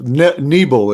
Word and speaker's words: Nebel: Nebel is how you say Tom's name. Nebel.